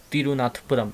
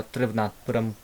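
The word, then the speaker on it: तिरुवनंतपुरम: अगर वी ना होता तो तिरुनाथपुरम इस टाइप की प्रोनाउंस कर रहे होते, तो ये वी को आप, विक्रम के वी और तिरुवनाथपुरम का वी बहुत ज़रूरी है, तो यहाँ से लिंक करना, है ना।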